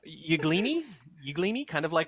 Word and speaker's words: Yglini: Yglini, kind of like I said, kind of an Italian pronunciation.